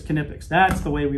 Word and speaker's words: Knipex: the rest of the world wants to say nepex what's the right way to say it we say it cognitives put it all together it's canipics that's the way we pronounce it how do